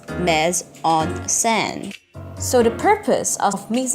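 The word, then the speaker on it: mise en scène: San is H me a French word which pronounced mez on sand so the purpose of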